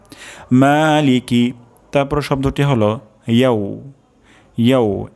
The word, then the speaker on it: مالك: প্রথম শব্দটি হলো মা, অর্থাৎ এখানে এক আলিফ পরিমাণ টান হবে। তারপর শব্দটি হলো লিকি, লিকি এখানে টান হবে না, দ্রুত পড়তে হবে। লিকি, মালিকি, মালিকি, মালিকি।